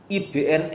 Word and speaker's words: ibn: Menurut IBN Esra ya, Ibn itu ee Ibraninya bin gitu ya, bacanya gitu ya.